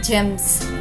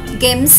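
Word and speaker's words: gems: కాబట్టి పదం యొక్క ఉచ్చారణ అవుతుంది GA ఎం ఎస్ జెమ్స్ గెమ్స్ కాదు జెమ్స్ తర్వాత పదం చూద్దాం.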